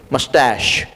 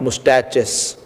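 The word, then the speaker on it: moustache: सी the pronunciation of this word मस्टैश, ऐसे उसको बोलना है. This are नॉट मुस्टैचेस, this is called as मस्टैश.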